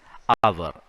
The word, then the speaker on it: hour: H is silent exactly as in the case of honor. So it's hour.